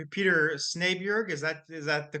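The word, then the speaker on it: Snejbjerg: Peter Snier. Is that is that the correct pronunciation of the name? That's very close. Um I say Snipia, but it's it's it's that's fine.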